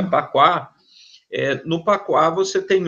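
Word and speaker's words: Bagua: Então, quando você fala no Qua, você tem a estrutura da família, o famoso Baguá, né, que se pronuncia Paquá.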